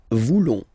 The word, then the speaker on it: voulons: Then for nous, classic ending, O-N-S. Don't pronounce the S. Just pronounce the on. Nous voulons.